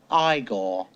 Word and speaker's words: Igor: marty feldman as igor now it's pronounced igor and madeline khan as